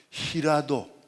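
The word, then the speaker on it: 平戸: 나가사키에서 조금 더 해변 바다 쪽으로 더 나가면은 히라도, 평호라고, 한자를 평호라고 써서 히라도라고 읽습니다.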